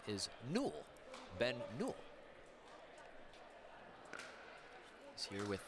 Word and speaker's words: Newell: you're playing pickleball trivia at home how you pronounce Ben's last name is Newell Ben Newell he's here with Yana grechkin Newell